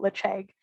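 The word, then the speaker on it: Ledaig: accent we go for kind of an in-between we call it lich egg um but it means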